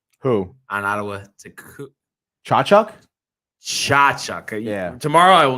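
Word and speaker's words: Tkachuk: Chachuk.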